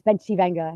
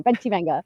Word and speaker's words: Bencivenga: In Italy, it's Bencivenga. It has such a beautiful ring. And you said it perfectly, Bencivenga. I used to live in Italy. Okay. I was like, wow, she knows the true pronunciation.